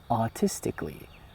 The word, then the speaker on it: artistically: When you will find A in these kinds of syllables like kali, just silent the A and say artistically.